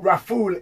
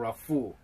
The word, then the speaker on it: Rafool: I've got Uncle Rafool in the building. Yes. Did I say your name right? Of course you said it right. Uncle Rafool.